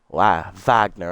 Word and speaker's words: Wagner: Wagner, I believe, is the correct pronunciation because they pronounce their W's like V's.